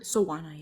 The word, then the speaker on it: Soana: Soana, yeah.